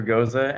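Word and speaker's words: Gocza: It's spelled very weird. Yes. Yeah, G-O-C like cat, Z like zebra, A, G-O-C-Z-A. It's I don't know. Don't ask me why it's pronounced that way.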